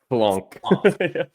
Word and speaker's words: FFLONK: I don't know how to pronounce it. FFLONK. Yeah. Yeah. Like a hard double F.